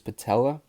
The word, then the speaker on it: patella: year for the Nets he ruptured his patella that's how you pronounce it but it wasn't it